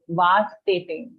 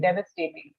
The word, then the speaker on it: devastating: figure out i mean listen to the pronunciation of devastating although it has the vast in it right so we tend to say vast dating but actually it is a shorter pronunciation here so just google